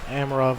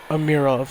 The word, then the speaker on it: Amirov: I said that wrong again because he told me earlier how to say it. But I went back to the old way after I left. Amirov, that's it.